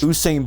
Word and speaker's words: Usain: Usain Bolt runs like 28 miles per hour with pads off.